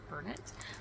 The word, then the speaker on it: Bernat: the Bernat um auras I guess it's pronounced Burnet but um yeah so